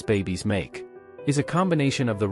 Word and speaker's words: 馬: the first sounds babies make. Is a combination of the radical nu, meaning female, and ma, pronounced like a soft ma.